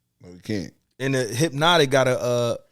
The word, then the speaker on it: Hpnotiq: It's just HPNOTIQ. So it's Hypnotic.